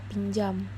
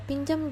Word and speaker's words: pinjam: dan C selanjutnya ada kata pinjam seperti pada kasus sebelumnya kata pinjam juga jika disebutkan ada huruf y di antara n dan J selanjutnya yaitu